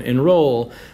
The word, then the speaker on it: enroll: amateur and again same enroll two syllables you stressed the second one enroll tunnel vision even though